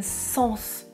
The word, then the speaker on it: sens: a un sixième sens je prononce le "s" il a un sixième sens dans la deuxième phrase je prononce tu sens le parfum tu sens le parfum je ne prononce pas le "s" sentir c'est un verbe dans la première phrase